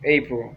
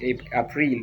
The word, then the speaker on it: April: I will say April, April. Some people like pronouncing April, but it's not April, it is April.